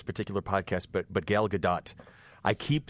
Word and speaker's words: Gadot: gadot I keep saying I keep seeing her last name and thinking of the play Waiting for Godot so that's how I pronounce it and I'm told the tea has to be pronounced and I so I